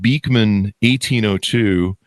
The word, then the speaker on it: Beekman: Anyway, so now you guys have created, I'm looking at your website, Beekman 1802. Am I pronouncing that right?